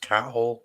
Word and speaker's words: Cathal: Cathal is lovely. It's Cathal also is- pronounced cat hole, guys. Just to make sure you get that right.